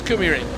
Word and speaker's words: Kymiring: Yeah, he came past on his little scooter and he said, it's Kymiring. He said, there's a river nearby, Kymi something.